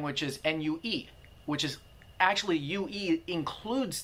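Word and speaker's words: 虐: It's actually N-U-E is pronounced nue, nue.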